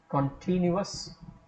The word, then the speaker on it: continuous: Continuous, so the I gets a stress and the rest of the syllables are not stressed.